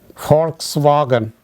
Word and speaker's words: Volkswagen: V in German language is pronounced as fa, fa, fau. For example, folk. Folk means people. Volkswagen, you must have heard it.